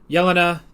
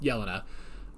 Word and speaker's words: Yelena: Yelena. That's how they say it. Yelena.